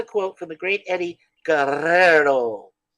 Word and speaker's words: Guerrero: from the great Eddie Guerrero that's how you pronounce it gotta Trill those r's the two hours well only if you're in Spain or in Mexico uh or anywhere in the Central America Guerrero we'll just go with